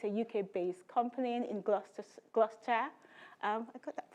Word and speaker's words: Gloucester: It's a UK-based company in Gloucester. I got that pronunciation right, I'm learning.